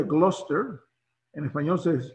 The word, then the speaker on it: Gloucester: la bahía de massachusetts cuarto de en inglés pronuncia gloucester en español se pronuncia glaus es blues esther